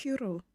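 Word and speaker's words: Curro: I can never pronounce it correctly. It's Kuro. Yeah, I get it wrong every time, and then I get messages from people.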